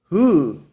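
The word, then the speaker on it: הוא: That Hebrew word is pronounced Hu.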